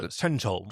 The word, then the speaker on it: Shenzhou: It's It's more Shenzhou. Shenzhou. Like, like an S, like the H is breath.